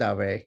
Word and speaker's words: Dave: Dave: I get called Dave all the time, so that's absolutely fine but it's actually pronounced away and that's my last name.